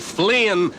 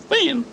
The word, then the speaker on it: Finn: idler a useless loafer Finn Finn what what was that idler the useless loafer he was Huckleberry Finn not Flynn ain't it the decent thing to pronounce the poor dead Loafer's name right oh oh yes sorry